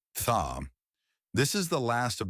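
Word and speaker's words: ث: It is crucial not to replace this sound with an S.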